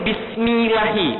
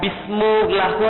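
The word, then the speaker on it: بِسْمِ اللّٰهِ: Tapi kenapa bacanya ini Bismillahi, bukan Bismillahu atau Bismillahu?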